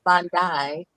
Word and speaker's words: Bondi: As far as Miss Bondi rhymes with I Honda.